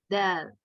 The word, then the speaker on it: د: Nah itu tuh salah, ternyata kita harus majukan lagi nih posisi lidahnya ke belakang gigi seri atas yang nempel sedikit sama gusi gitu. Dal, dadidu, dadidu.